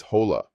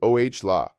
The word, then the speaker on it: hola: Our first phrase is hello, which in Spanish is hola. The pronunciation is oh la. Notice how the h is completely silent in Spanish and the stress falls on the first syllable.